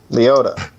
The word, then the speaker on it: Liotta: Leota.